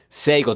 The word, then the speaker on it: Sagel: in Baltimore, uh her name is uh Seagel. Did I pronounce that right?